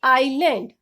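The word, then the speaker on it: Ireland: होगी S silent ही रहेगा इसको हम बोलेंगे आयरलैंड साइलेंट टी किसी भी वर्ड में टी के बाद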